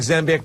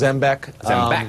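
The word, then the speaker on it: Zembiec: Just, you know, it looks like Zambek, but it's actually pronounced Zbeck.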